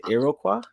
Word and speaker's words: Iroquois: last name is iroquois yeah is that it it is it's you said it right the first time the s is silent and everything else is pronounced how it looks awesome i'm so glad